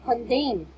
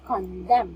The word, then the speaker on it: condemn: And also, my dear, this word is not condemn, it's condemn. Condemn.